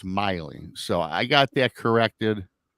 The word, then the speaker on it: Maile: So when I seen this, I said, "Oh, Maile," and then it's Miley.